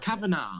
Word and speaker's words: Kavanaugh: Think of the GH. Kavanaugh.